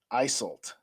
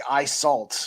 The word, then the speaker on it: Isolt: It's Tristan and Isolt. I get it now. First, it looked like Isalt because my eyes are so bad.